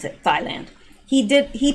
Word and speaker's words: Thailand: to thailand and that is actually how you pronounce it thailand he did he pronounced it right but the